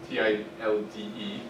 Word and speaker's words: tilde: Not tilde, even though it looks like it if you use the Spanish pronunciation. T-I-L-D-E. It's pronounced tilde. I don't know why. It's probably German.